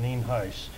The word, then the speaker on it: Nienhuis: For the record, I'm Sheriff Nienhuis, Nienhuis, and it's pronounced Nienhuis.